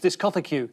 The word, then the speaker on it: discotheque: Well, I used to know somebody who pronounced discotheque as discotheque. That's how it's written.